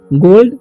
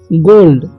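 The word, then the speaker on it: gold: गोल्ड क्या हो जाएगा गोल्ड ठीक गोल्ड मतलब क्या होता है सोना गोल्ड मतलब होता है सोना ठीक तो जब जी एलडी यानी बीच में ओल भी रहे तो उसका उच्चारण होगा ओ गोल्ड पढ़ेंगे हम क्या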